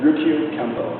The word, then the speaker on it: Ryukyu Kempo: How do you pronounce it again? Ryukyu Kempo.